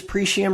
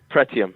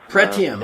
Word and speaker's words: Pretium: it pretty Umrah sources pre sham resources how do you pronounce that one pretium pretium okay deposit no I'm sorry